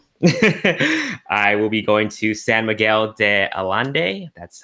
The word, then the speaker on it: San Miguel de Allende: out to Mexico I will be going to San Miguel de Allende that's how you pronounce it and it is an event that's